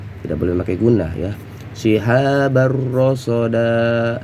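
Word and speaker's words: شهابا رصدا: Shihabar rasada ini dibaca tanwinnya dibuang ya. Tanwinnya dibuang namun dipanjangkan 2 harokat.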